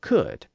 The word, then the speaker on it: could: cud in Middle English so there was never an l sound in those words and those words were never spelled with an l so in early modern